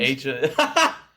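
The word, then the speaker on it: Aja: Steely Dan with it's Aha or a John. I still to this day don't know. As a Jesus Christ, I've been saying it wrong these years. No wonder I have no friends. Asia.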